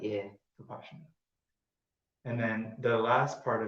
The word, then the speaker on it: Vipassana: He calls it Vipassana. So that's like I guess it's the Indian and Burmese permutation of pronunciation of it. Yeah. Vipassana.